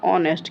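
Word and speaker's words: honest: मतलब आर्टिकल तो आना चाहिए, बट यहाँ पर आर्टिकल ए नहीं लगने वाला, क्योंकि आप हॉनेस्ट में एच साइलेंट करके पढ़ते हैं अपन क्या? ऑनेस्ट, क्या पढ़ते हैं? ऑनेस्ट।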